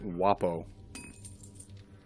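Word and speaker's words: guappo: ] oh it's J its GU a PPO pronounced wopo Italian for criminal or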